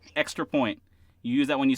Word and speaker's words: XTRAPOINT: It's one word. It's spelled with an X, like it is up there, right? One word, Extra Point.